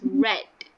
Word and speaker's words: read: Okay, even though it's spelled the same, we pronounce as read. Okay, so the past tense of read, we pronounce it as read.